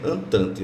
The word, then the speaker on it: Entente: Se escreve Entente, mas se pronuncia Entente.